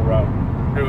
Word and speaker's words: route: to take the normal route route in my neck of the woods when I was a kid we called it rout which is also an acceptable pronunciation route and Ralph are both acceptable even